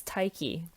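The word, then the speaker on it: Tyche: I think it's Tyke. Hang on. Okay, it's Tyke.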